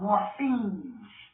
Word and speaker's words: morphemes: These are called morphemes. Is that where we get the word? Like morphine, the drug. But it's not morphine because it's spelled, again, Morphemes. Morphemes, not like morphine or the drug, but that's where we get the word Morpheus from.